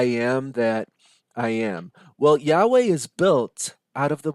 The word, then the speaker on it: Yahweh: That, of course, if it's pronounced today, the way we pronounce it is Yahweh.